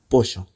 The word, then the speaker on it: pollo: Meaning street sounds like, calle, and there's its vesre equivalent, checa, pollo, meaning chicken, sounds like, pollo.